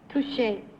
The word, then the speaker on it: touché: Number 3, in the vernacular of fencing, what would be the correct pronunciation of T-O-U-C-H-E? Touché.